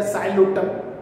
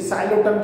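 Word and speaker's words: Psilotum: जो सिलोप्सिडा है मीन्स की साइलोप्सिडा, इसमें आता बेटा साइलोटम, जिसे सिलोटम भी कहते हैं, है ना। कई लोग सिलोटम भी उसका प्रोनाउंसिएशन निकालते हैं।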